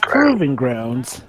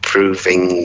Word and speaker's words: Proving Grounds: not for example it's proving grounds James Thompson it's proving grounds not proofing scram games right yup oh